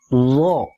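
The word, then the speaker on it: ظاء: titik di atasnya satu namanya do bunyinya mirip Dal dalal Zai dan Dod yakni kayak huruf d tapi ada unsur znya do d perhatikan saat dikasih si vokal a dia jangan dibaca Da Kayak Dal jangan D kayak dalal Jangan Za kayak Z tapi do cenderung Do tapi bukan do atau Do tapi do bukan juga do kayak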